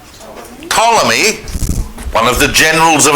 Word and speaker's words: Ptolemy: where a general called Ptolemy, one of the generals of Alexander, again, spelt with a P to confuse everyone in history, right?